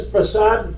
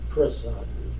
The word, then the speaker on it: Prasad: Some people say Prasad, some people say Prasad. The correct thing is really the Prasad. Prasad, not Prasad. The Prasad really is a little Bhojpuri twist, twang type of thing.